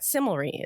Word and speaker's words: Cimilre: And that Similry is spelled CIMILRE.